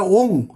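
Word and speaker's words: ওঁ: চন্দ্রবিন্দু রয়েছে এখন অনেকে স্টাইল করে ও এম ও এম বলে না ও এম না ওম নয় এটা ওম ও এনজি ও যাই হোক পুনরায় সংশোধনের জন্য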